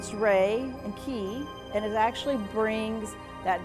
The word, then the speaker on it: Reiki: Reiki is actually the um it's pronounced ray and keyi.